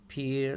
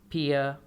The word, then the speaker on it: Pierre: Line number 1 में लफ्ज़ लिखा है name पीयर lives in Canada. अगर देखें तो इसमें जो पहला लफ्ज़ है इसके अंदर आपको बताए देते हैं कि PIERRE, आखिर में जो आर है ये साइलेंट है।